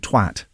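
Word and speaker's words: Twatt: You know there's a village called Twat? Yes. With two T's, I think. Okay, I emphasise the second T in the pronunciation of it. Now the local council in Aberdeenshire is working to erect...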